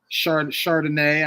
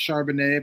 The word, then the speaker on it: Charbonnet: Chardonnay. I know it's Charbonnet, but I call him Chardonnay.